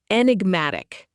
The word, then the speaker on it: enigmatic: enigmatic Pronounced en ig mat ic. This is an adjective.